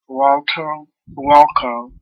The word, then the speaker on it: Huatulco: What about those new highways we've been hearing about connecting the capital to Huatulco and Puerto Escondido? Okay, well, pronounce that city for me.